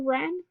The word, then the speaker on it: wren: So we have silent letter W in the word wren, silent letter K in the word Knox, silent letter B in the word lamb.